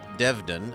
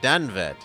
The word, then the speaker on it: Danved: a friend of mine danved the the syllables the A and the E have flipped place this is true people often make that mistake but danved is definitely not Devon ahuh but you look